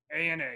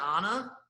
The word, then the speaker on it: ANA: the anna inspiration lpga ana you pronounced it wrong it's not the anna no it's a a i thought it was